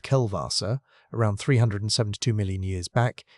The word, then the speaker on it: Kellwasser: Kellwasser, pronounced Kelvassa, around 372 million years back is the pulse that killed the reefs.